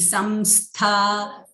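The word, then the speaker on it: संस्था: Mahapadmatavi samstha. The anuswara is followed by sakaraha. So, we are going to say here the ma. Im, halanta ma.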